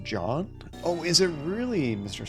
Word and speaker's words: Jean: Oh, and the name is spelled Gene, but it's pronounced John? Oh, is it really, Mr. Smiles? I've been saying Gene this whole time.